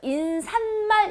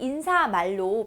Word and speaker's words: 인사말: 그래서 인산말 이렇게 발음이 될 것 같지만 인사말이에요. 환경은 사이소리 현상이 나는 환경이지만 사이소리 현상이 나지 않는 그런 대표적인 굉장히 많이 소개가 되고 있는 예입니다. 그래서 얘는 인사말로 발음이 되고요.